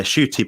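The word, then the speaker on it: Schuett: to see that interview yeah shoy but it's pronoun it's spelled like s c h u e TT um I think her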